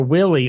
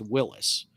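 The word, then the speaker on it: Willys: of the whole company but the family name is pronounced willis john north willis and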